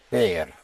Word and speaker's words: ver: The word for to see is bear. Spelled V E R with vision. Bear bear to see. The V in Spanish has the same sound as a B.